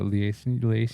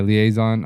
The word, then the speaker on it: liaison: Bro, it was it was funny, too, because uh the how do you pronounce I always this word. A liazison. Leaison. Yeah. Liaison.